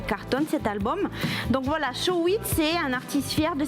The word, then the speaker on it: Shawit: Shawit, on dit. Voilà, ça se dit Shawit, Shawit. voilà, mais je trouve qu'il est génial.